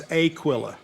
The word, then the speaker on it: Aquilla: so now I'm in Aquilla wait you didn't say that right it's Aquilla Aquilla see I'm a transplant